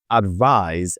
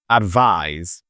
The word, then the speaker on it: advise: Now, let's start with advise and advice. Okay. The first one is advice with s. It's pronounced with a letter zed at the end. Advise.